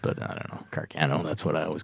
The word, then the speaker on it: Carcano: Carcano? Yeah, that's what I've been told that it's properly pronounced, but I don't know. Carcano, that's what I always called it.